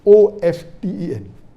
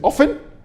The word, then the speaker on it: often: n some will say often some will say often previously it was often then it became often now new people are saying of 10 is correct t is not silent it should be pronounced some say t sign